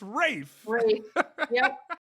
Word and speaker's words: Rafe: brave raphael you could say his name it's rafe reef is crazy so is my dad crazy